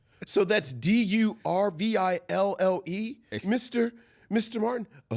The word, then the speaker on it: D'Urville: SO THAT'S D U R V I L L E Mr. Mr. Martin. Uh no, that's D apostrophe. It's actually French for D'Urville. It's French for what? D'Urville.